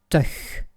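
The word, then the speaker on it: -tig: Les dizaines se terminent par TIG, ce qui se prononce teuch.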